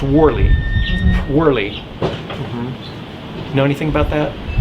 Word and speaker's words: Worley: I don't know if it's W-O-R-L-E-Y or W, but it's pronounced Worley.